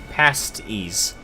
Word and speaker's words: pasties: what now confusing myself no pasties pronounced past ease okay spelling is the same though the wind in